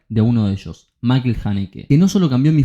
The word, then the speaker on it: Haneke: Como cada artista, Michael Haneke, que es así como se pronuncia, van a ver que